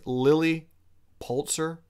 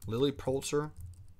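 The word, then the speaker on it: Lilly Pulitzer: pronouncing that right ladies lily poultzer like the pulitzer prize am i am i saying that right lily poultzer so there was an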